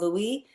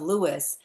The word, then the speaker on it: Louis: that he did not prefer to be called Louisie.